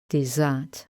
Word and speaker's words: dessert: The ER are in the stressed syllable and we get the sound dessert.